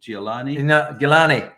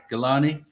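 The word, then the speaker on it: Geelani: Oh, that's Saeed Ali Gilani. Gilani.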